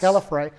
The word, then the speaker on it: Gallifrey: And that the regeneration, I mean, he was he's a Time Lord from, is it Gallifrey is how they pronounce Gallifrey, it? yes. Gallifrey.